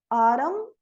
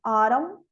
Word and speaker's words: autumn: O N final, autumn, termina em M, autumn, column.